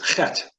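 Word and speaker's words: ח: It is chet. And so it's a gentle clearing of the throat.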